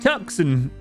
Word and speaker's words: Tucson: It's pronounced Tucson.